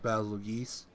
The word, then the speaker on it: Bazelgeuse: butt it's very Oh Basile geese in the field of fire I'm pretty sure it's pronounced battle of geese yeah I don't know